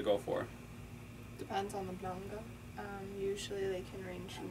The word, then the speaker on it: manga: Oh, manga. It actually is spelled manga.